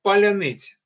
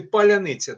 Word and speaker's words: паляниця: по одному слову Да От у нас кажуть паляниця паляниця росіяни не можуть вимовити паляниця Так а тут мені